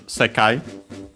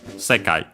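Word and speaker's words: 世界: It's a Chinese compound. One of those accent on the first syllable. So yeah, not the most common ones, as we have seen. Usually those are unaccented. But the second most common accent for those. So yeah, on the first syllable, on the first more, I should say.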